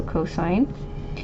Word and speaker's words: cosine: So cosine, we just say COS, so cosine.